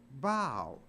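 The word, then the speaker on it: bough: u g h but it's not pronounced buff it's pronounced bow so even O A.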